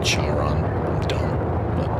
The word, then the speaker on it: Chiron: Oh, I guess you pronounce it Chiron. I said Charon.